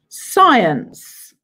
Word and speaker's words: science: Number eight, Okay, this is the subject science. Science. There is a silent letter in science.